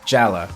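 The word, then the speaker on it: Jaller: waterwear jela spell j al l ER but pronounced jela ona poop and kongu jela is the most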